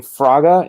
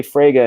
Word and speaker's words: Fraga: You guys have been saying, you guys have been pronouncing Fraga, and maybe that's right. I say Frega, and perhaps I'm wrong.